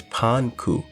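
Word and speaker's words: パンク: And interestingly enough, the way punk is pronounced in Japanese, or at least in Kid's case in Japanese, is Panku.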